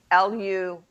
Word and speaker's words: Lugh: from the god lou l u g h lu remember it's gaelic and half the letters aren't pronounced anyway um now some people